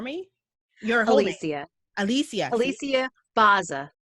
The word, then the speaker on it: Bozza: i start and i totally forgot um please pronounce your first name for me your holy sia alicia alicia baza alicia baza okay and the reason i do that i